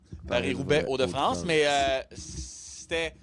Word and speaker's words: Paris-Roubaix: Haut de France là on va le prononcer comme il faut Paris Roubet Haut de France mais